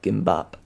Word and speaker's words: Gimbap: Pronounced like bop. Nice. Gimbap.